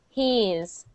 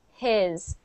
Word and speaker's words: his: So instead of saying he, because this is what I'm hearing he's. HE''S. And I want to hear his. His. His. Not his, but his. No, that's okay. His. His. Good, good. That I sound is challenging at first, but then it becomes easy. In the middle of E and A, yeah? His. Yes, exactly. Between E and an A.